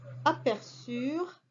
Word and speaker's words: aperçurent: Ils ou elles aperçurent, URENT, et avec un CCD pour prononcer le C.